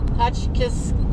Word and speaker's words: Hotchkiss: i hotchkiss that's how you say it hotchkiss colorado i just left the black canyon national